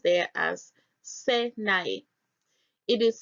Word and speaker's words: Sinai: The name Sinai is found in Strong's H5514 and pronounced there as Sinai. It is spelled Samek Yod Nun Yod, which is Syny.